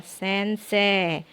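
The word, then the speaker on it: 先生: maupun dalam huruf latinnya Sensei dibacanya bukan Sensei tetapi Sensei huruf c yang terakhirnya itu dibaca panjang jadi huruf e-nya tidak usah diucapkan sense huruf x ketemu huruf e dalam sebuah kata hurufnya dihilangkan ditambahkan menjadi panjang ya kata panjang jadi sense Nah untuk Sensei ini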